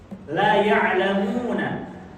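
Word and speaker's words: لا يعلمون: Seperti contoh misalnya la ya'lamuna, la-nya pakai alif tuh. La ya'lamuna, la-nya itu la nafiyah. Yang artinya apa? Tidak. Yang maknanya la ya'lamun, mereka tidak mengetahui. Tapi ketika antum menghilangkan mat, jadi kayak gimana bahasanya? La ya'lamuna, maka itu pemahamannya langsung 180 derajat terbalik.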